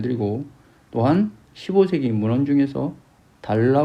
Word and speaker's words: 달아: 때 설정 켝 울림소리 5 건조 영어의 얼 발음입니다 다아라 하면은 알바를 되죠 달아 로열 금연 안되고 달라 로 읽어야 한다는 것입니다 만약에 바로 이루어야 된다면